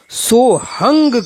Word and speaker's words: सोहम: समय चल रही है वहां सोहंग शब्द का उच्चारण सोहंग किया जाता है यानी लिखने में तो सोहम है मगर इन प्राचीन परंपरावादी गुरुओं के माध्यम से जो इसका उच्चारण करते हैं वह सोहंग करते हैं तथा व्याकरण के विद्वान